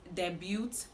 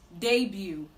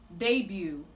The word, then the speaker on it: debut: Now, this word is commonly pronounced debut, but the right to pronounce this word is debut. Debut. Debut. The T in this word is silent.